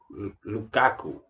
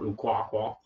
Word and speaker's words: Lukaku: The left back is a left midfielder, is Jordan Lukaku. That's how you pronounce it, not Lukaku.